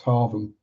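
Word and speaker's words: Hargham: It's in Norfolk, so it's Haram. The gh is pronounced as a V.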